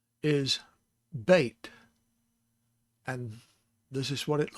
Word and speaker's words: Bet: b y t yod the bait has a dot in it a dagesh so that makes it the plosive sound so it's the ba sound not the ba so